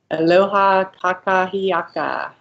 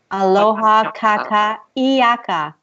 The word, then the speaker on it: aloha kakahiaka: so how how do you say that again aloha kakahiaka it's all one-thirds aloha kakahiaka yucca ki akka yeah very nice yeah it's